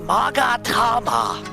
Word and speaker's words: Magatama: That is Mystic Maya's Magatama. Don't let her fool you into pronouncing it any other way. That is the only correct way to pronunciate it.